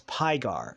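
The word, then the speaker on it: Pygar: digdug well there's well this angel's name is pigar as in py pigar played by John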